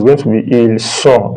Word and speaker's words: ils sont: Then ils sont, ils sont, ils sont. Don't pronounce this T. This S, they are silent when there is the last letter in French.